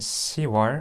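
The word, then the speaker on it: 시월: When you pronounce 6월 and 10월 in Korean, it is pronounced as 6월 and 10월 respectively.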